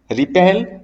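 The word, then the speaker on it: wrap: ध्यान दीजिएगा बेटे यहाँ पे जो W है वो साइलेंट रहा करता है।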